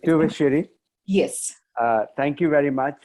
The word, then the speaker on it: Thuvassery: uh, Thuvassery, if I pronounced it right. Thuvassery. It's Tu- always a difficult surname of a South Indian to pronounce, but it's Thuvassery.